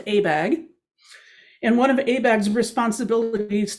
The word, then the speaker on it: ABAG: the association of bay area governments and its pronounced abag and one of abeg's responsibilities to develop a